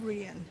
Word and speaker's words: Rhein: It's Rhein. Rhein, rhyming with?